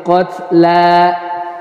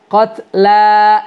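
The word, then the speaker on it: القتلى: Ya, kutiba 'alaikumul qisasu fil qatla. Nah, biasanya ya kita baca itu jadi fil qatl. Ya, seolah-olah lamnya jadi sukun.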